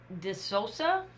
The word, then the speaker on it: DeSouza: And this particular layout comes from Natalie DeSouza.